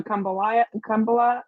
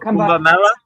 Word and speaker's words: Kumbh Mela: Do you go to Kumbala? How do you say it? The Oh, Kumbala. Kumbh Mela.